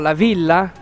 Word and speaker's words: La Villa: and I've been schooled as to how to pronounce it Adriano yes it's called lavila Laila and here we are with Chef Chris O'Donnell Chef can you tell us a little bit about your Cuisine here at lavila um at lavila we are a farmed table